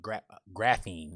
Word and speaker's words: graphein: prostitution, and then there's the word graphene. It's spelled GRAPHEIN, and it means to write.